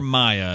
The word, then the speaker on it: Mia: That's for listening from to the Mia show. or Maya. It's M-I-A. I know it can be pronounced either way.